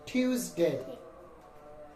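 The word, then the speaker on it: Tuesday: same উচ্চারণ তারপর হচ্ছে টিউসডে টিউসডে এটির উচ্চারণ হচ্ছে ইউ টিউসডে এই এস এর উচ্চারণ হচ্ছে কি জর মত টিউসডে তারপর হচ্ছে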